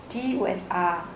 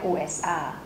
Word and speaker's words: USA: sẽ nói là out USA nhưng mà không phải là usa mà là USA USA và cuối cùng là